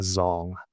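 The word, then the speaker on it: dzong: And so there um the the full campus is designed to emulate a zong which is spelled dz o ng.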